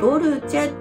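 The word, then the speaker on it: dolce: という意味で隣にあるのはドルチェって読みますドルチェは柔らく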